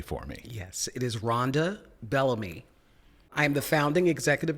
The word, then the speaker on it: Rhonda Bellamy: please pronounce your name correctly for me yes it is Ronda Bellamy I am the founding executive director of the